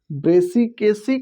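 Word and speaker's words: Brassicaceae: ब्रेसिकेसी, क्रूसीफेरी, क्रूसीफेरी, ब्रेसिकेसी, इस तरह से आप इसका प्रोनाउंसिएशन करेंगे।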